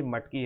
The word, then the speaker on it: मटकी: होता है मैकी मैकी मैकी नहीं है ये मटकी है सॉरी फॉर प्रोनाउंस ये